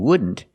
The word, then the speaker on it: wouldn't: You see the NT in wouldn't is between vowels, so you don't really hear the T.